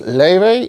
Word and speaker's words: Laufey: the name is ly which I believe is uh Icelandic I think she's a